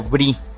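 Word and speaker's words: Brix: discutiendo sobre algo llamado brie y no están hablando de quesos. Este brie se escribe B-R-I-X y es un sistema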